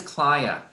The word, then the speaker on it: Clia: My name is Clia, rhymes with Haya, and I'm in California, USA.